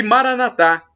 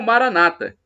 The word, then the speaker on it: Maranatha: cair ó o e Maraná thá como dizemos nós católicos com a tônica na última sílaba ou Maranata com a tônica na penúltima sílaba como dizem os cristãos evangélicos ou protestantes somos todos irmãos não importa é